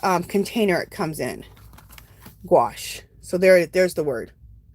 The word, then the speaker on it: gouache: angie spell the paint okay the word is gouache you know let me i can do better than that too um gouache is spelled g o u a c h e